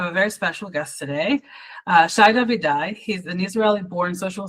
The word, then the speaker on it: Shai: Shai, thank you so much for joining me today.